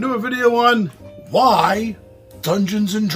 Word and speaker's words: Dungeon!: Dungeon! You gotta say it like that with emphasis. Dungeon! Because it has an exclamation point at the end of it.